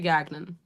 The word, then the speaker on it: Gagnon: your last name right it's gagnan or Ganon I say gagnan gagan beautiful Julia gagnan